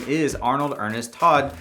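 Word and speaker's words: Toht: name is arnold ernest todd spelled t-o-h-t but pronounced like todd the german word for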